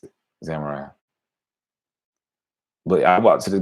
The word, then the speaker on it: samurai: Samurai. That's how you pronounce it. Samurai.